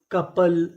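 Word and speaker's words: couple: सी ओ यू पी एल ई कपल। कपल। कपल का मतलब होता है जोड़ा। यहां पे जो ओ यू है उसका उच्चारण हमें नहीं करना।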